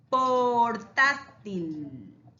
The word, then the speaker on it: portátil: Portátil.